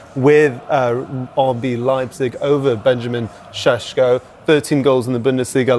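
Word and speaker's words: Šeško: Benjamin, we call him Sesko? Hey, we have Tim Vickery a bit later on, maybe. He's great at pronunciations. Sesko, I think that's how you pronounce it.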